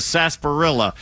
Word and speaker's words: sarsaparilla: First place I ever had a sarsaparilla was in the sarsaparilla. Was there an R in there? Did you know that? Sarsaparilla.